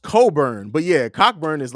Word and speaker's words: Cockburn: So it's pronounced Coburn, but yeah, Cockburn is like a listen.